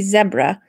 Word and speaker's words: zebra: was talking about how it should be zebra because it rhymes with Deborah I don't know if